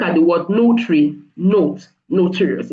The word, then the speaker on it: notarius: So the word notary in the Latin word is called notarius. Not not not notorious like notorious.